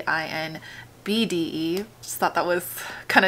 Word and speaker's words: INBDE: I've been saying INDBE, but it's actually INBDE.